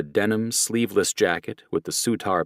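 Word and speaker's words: Surtr: Their colors include a denim sleeveless jacket with the Sutar pronounced Sudar patch on the back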